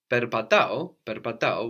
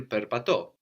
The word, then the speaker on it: περπατώ: Perpatao was I walk. Perpatao. So we can have perpatao, or you might also hear perpato.